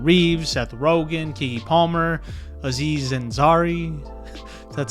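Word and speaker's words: Aziz Ansari: You know, the movie with Keanu Reeves, Seth Rogan, Kegy Palmer, Aziz Zenzari.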